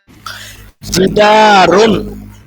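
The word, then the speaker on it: جِدَارٌ: একটি দেয়াল, এটার উচ্চারণ কি হবে? একটি দেয়াল, জিদারুন, জিদারুন।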